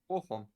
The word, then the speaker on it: Bochum: Bochum.